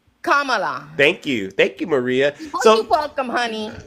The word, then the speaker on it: Kamala: I didn't tell you you're voting for kamla that means you can't even say her name right I said ITA Kamala Kamala thank you thank you